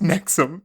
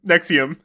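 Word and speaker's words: NXIVM: an organiz in an organization called Nix yeah pronounced nexum Nexium I wish that that pronunciation wasn't last time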